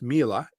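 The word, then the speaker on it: Miele: if you haven't heard of it it's it's pronounced Mila um but it's spelled m i e l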